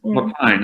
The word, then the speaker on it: Loch Fyne: I filmed is it Loch Finn or Loch Fyne? How do you pronounce that? Is it Loch Fyne? Loch Fyne.